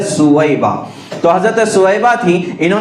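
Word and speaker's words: ثویبہ: باندی تھی حضرت سویبہ، جن کو عام طور سے صوبیہ کہا جاتا ہے، صوبیہ لکھنے میں صوبیہ دکھتا ہے لیکن حقیقت میں اس کا تلفظ ہے سویبہ۔ تو حضرت سویبہ تھی،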